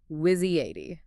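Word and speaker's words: WYSIATI: What you see is all there is. Pronounced whizzy-80, basically.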